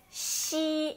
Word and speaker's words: xi: A diferença entre XI e SI é que XI, a letra I, mantém a pronúncia de I. Então é XI. Ele tem um pouco de chiado também, né? Como se fosse SHI ou CHI pronunciando em português, tá? É XI, tá? E SI já é sem chiado e a letra I é mais fechada, tá?